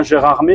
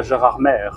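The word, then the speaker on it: Gérardmer: centre ville de arm alors on dit bien gérardé et pas Gérard merè par contre dans le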